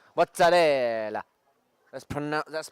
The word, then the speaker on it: mozzarella: you know the Italians they don't say mozzarella it's mozarella that's pron that's pronunciation